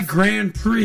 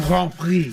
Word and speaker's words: Grand Prix: I like how you said that. Grand Prix Montreal. That's how you say it. The Grand Prix. Basically, it's the F1. Don't say Grand Prix. No, right? Gotcha. Grand Prix.